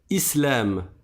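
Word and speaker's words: إسلام: Islamun par exemple. Mais si je m'arrête dessus, je ne prononce pas la dernière voyelle et donc je vais dire islam.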